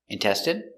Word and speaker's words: intestine: So we're going to practice the pronunciation of the sound in for ine. Example, medicine, margarine, intestine, genuine, famine, and jasmine.